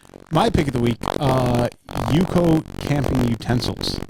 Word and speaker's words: UCO: my pick of the week, Yuko camping utensils. Spell it.